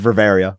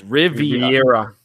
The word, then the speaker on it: Riviera: girl never I'll never of Riveria I'll never pronounce his name gravy there's no second are its Riviera all right the boob